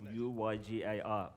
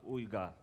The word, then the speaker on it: Uygar: my name is olga it's a difficult turkish name most likely you won't even say it properly but it's uyga ooga i'm from london originally